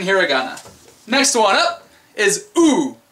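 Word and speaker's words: う: that's your second hiragana next one up is ooh pronounced ooh as in I don't know you're a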